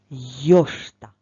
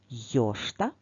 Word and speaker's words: йошта: цю назву йошта а тепер давай визначимо наголос в слові йошта покличемо це слово йош який звук довше чуємо о наголос у слові йо тож давай з нового